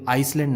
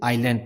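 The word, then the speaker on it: island: S silent होता है, इसे आइसलैंड नहीं पढ़ते या फिर इजलैंड नहीं पढ़ते, इसे आइलैंड पढ़ते हैं।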